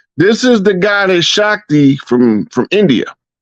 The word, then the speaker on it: Shakti: It's pronounced Shakti.